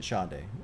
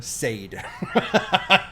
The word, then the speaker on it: Sade: sha it's spelled s a d but you pronounce it Shae I was told don't you dare call her Sade you get killed you'll die from it apparently